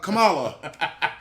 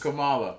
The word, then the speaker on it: Kamala: to be like uh we call her uh kamala you know everybody calls it kamala you know i call it kamala her name is kamala i know but but